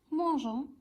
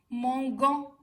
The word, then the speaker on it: mangeons: bien on mange, nous mangeons. Alors, nous mangeons, ONS, mais si on la laisse comme ça se prononce mangan.